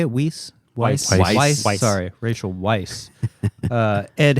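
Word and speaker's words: Weisz: it's the one with Jude Law and Rachel whis is that how you say it whis Weiss sorry Rachel Weiss uh Ed Harris um these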